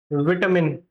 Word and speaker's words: vitamin: This word has two pronunciation. First pronunciation is vitamin, vitamin, vitamin. Okay, and the second pronunciation is vitamin, vitamin and vitamin.